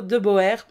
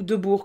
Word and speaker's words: de Boer: son ex de Ludo de Boer, ou de Bourg comme j'ai envie de le dire à la belge, mais je pense que c'est qui s'attendait à ce qu'on prononce de Boer.